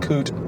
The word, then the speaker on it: Coot-tha: food yeah mount cootie the crazy the yeah the crazy thing is it's not mount cuther in the way you might think it's mount coot yeah and that's in